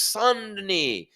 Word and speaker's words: Saint-Denis: The number 8 ranked lightweight contender in the world, Benoit Saint-Denis. Of course, that's spelled Saint-Denis, Saint space Denis. But it's Saint-Denis. Only the French can make things sound so great, right?